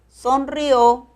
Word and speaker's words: sonrió: Nótalo, es sonrío, acento en la I, sonrió, acento en la O.